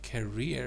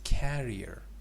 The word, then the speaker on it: carrier: me see hold on it's not uh career it is Carrier you know the difference you said aircraft career but it's not career it's carrier I think maybe it